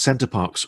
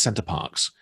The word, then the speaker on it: Center Parcs: retakes, which is why I think he says Center Parcs wrong every time he says it until the very end.